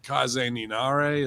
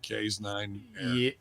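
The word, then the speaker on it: Kaze ni Nare: for suzuki complete with kaizen ninare is that how you say it or k's nine yeah no you had it right the first time that's what i figured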